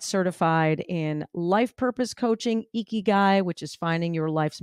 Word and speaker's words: ikigai: and I got certified in life purpose coaching, Ikigai, which is finding your life's mission, your life's purpose.